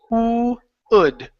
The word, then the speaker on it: would: Good. Let's go to the word right here. So here you pronounced a G sound saying good. All right. So take off that G. It's wood.